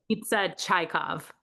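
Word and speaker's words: Čajkov: Pita chaikov.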